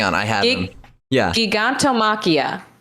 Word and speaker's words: Gigantomachia: Gigantomachia, right?